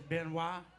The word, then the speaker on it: Benoit: It is Benoit. It's not that Benoit guy. Because O and I together says why. That's French. O and why, that's oi. See, they messed up because Detroit is supposed to be pronounced Detroit.